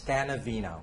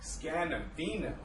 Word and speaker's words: Scannavino: your last name is such a doozy it's scanavino scanavino yes so I've been pronouncing it since the first day you you'll